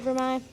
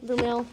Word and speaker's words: vermeil: actually vermeil is the correct way to say it, but you look at it, it says vermeil, so you think you want to say that, but it's. I've always a French said word.